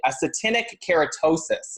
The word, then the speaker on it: actinic keratosis: It's actually something called, how do we pronounce this, Kathy? Actinic keratosis is what they're calling it.